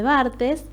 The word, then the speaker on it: Barthes: Desde el pensamiento de Barthes, que en Córdoba lo pronunciamos así, cada lugar tiene su elección, podemos entender la escritura como una tensión entre la práctica y el goce.